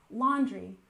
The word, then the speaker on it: laundry: and next we have laundry with a stress on the first syllable laundry laundry and this is when